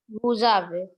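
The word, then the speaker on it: vous avez: So together you will pronounce it as Buzave.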